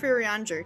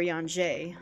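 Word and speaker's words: Urianger: then and see if riranjir can be of assistance or yanjay i should say i know how to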